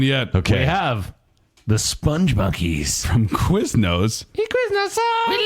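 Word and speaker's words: Spongmonkeys: Is it Sponge Monkeys or is it Spong Monkeys? I think it's pronounced Sponge Monkeys, but there's no E, I found out when I looked it up.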